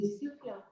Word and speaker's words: Seclin: Je vois le conseil citoyen de Séclin, je ne sais pas comment on prononce, Seclin, qui réagit dans le chat. N'hésitez pas à expliquer aussi concrètement comment ça se passe. C'est Seclin.